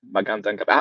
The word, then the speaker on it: Magandang gabi: Mani Magandang gabi. That was the correct way to say Magandang gabi.